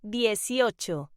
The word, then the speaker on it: dieciocho: The number 18 is pronounced dieciocho.